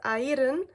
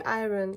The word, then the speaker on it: Aeryn: My name is actually pronounced Ayrn, but you can just say "Iron", like "Iron Man".